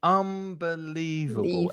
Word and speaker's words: unbelievable: he liked to say unbelievable and really stressing the syllables there unbelievable five syllables and it's the middle syllable that's stressed unbelievable um and the adverb